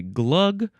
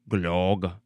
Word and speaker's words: glogg: You can say glug, glug, glug, glog. Whatever way is fine.